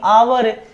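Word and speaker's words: hour: आवर H silent रहता है आवर only आवर okay so an honest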